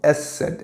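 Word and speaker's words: ß: Se pronuncia como SZ.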